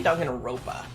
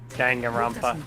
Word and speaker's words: Danganronpa: know i noticed that i never pronounced with the last end i always say dog in a ropa not like that's just a mistake i keep making danganronpa right yeah right because the